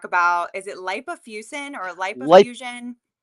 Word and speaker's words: lipofuscin: here to talk about is it lipofusin or lip fusion?